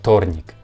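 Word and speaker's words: вторник: letter where where but we don't pronounce like we pronounce this sound like f thornic and when we more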